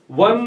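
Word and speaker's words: one: वन में व की ध्वनि आती है, इसलिए यहां ए लगाया गया है।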